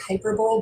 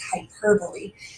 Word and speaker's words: hyperbole: is called hyperbole it kind of looks like hyperbole but that's not the way we pronounce it it's hyperbole and it's an exaggeration to make a point